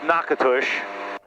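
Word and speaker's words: Natchitoches: in Louisiana that was I believe pronounced NACA push I'm not sure if I'm even pronouncing it right but I think I'm close it is not spelled like that at all if you sounded it out it would look like na koto chaise I think and then in the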